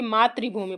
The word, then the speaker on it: मातृभूमि: मातृभूमि नहीं पढ़ेंगे बल्कि मातृभूमि पढ़ेंगे ठीक है तो ता के बाद क्या हो जाएगा यहां पर ऋ का उच्चारण हो रहा है किसका उच्चारण हो रहा